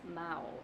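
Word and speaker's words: 猫: Cat in Mandarin is Mao. Pronounced Mao in first turn.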